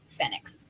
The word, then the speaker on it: FENIX: including the fact that it is pronounced fennecs yeah yeah absolutely so